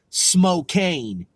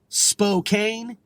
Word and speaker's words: Spokane: okay a and E some people call Spokane smoke cane okay even though it's Spokane and some people might who if they're unfamiliar with it they want to pronounce it Spokane it's really Spokane so keep in mind Washington